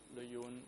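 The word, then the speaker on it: Lê Duẩn: unified Vietnam, led by Le Duan or Le Yun, as I understand you have to pronounce it in Khmer?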